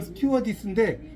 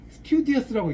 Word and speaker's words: 스튜어디스: 그러니까 어떤 분은 이걸 스튜어디스인데 스튜디어스라고 읽더라고요. 스튜디어스 아니에요. 스튜어디스.